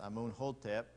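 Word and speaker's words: Amenhotep: Moses is birth that would have been a moon attempt or sometimes it's pronounced a moon hotep the first and he's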